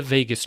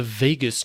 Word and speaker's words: vagus: a regular Joe so my pronunciations not on point with the Latin and the specificity and such it may sound as if I'm saying Vegas as in Las Vegas my wife's favorite vacation